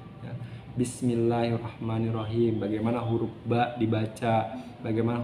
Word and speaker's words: Bismillahirrahmanirrahim: Jadi ada penekanan tuh, Bismillahirrahmanirrahim. Jadi jangan Bismillahirrahmanirrahim tuh nggak ada tasdidnya kalau kayak gitu ya.